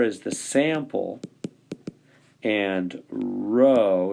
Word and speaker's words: Rho: that's a P yeah it's a Greek letter it's pronounced Rho it it is a